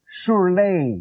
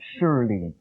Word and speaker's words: Surley: By the way, my name is pronounced Surley, not Surly.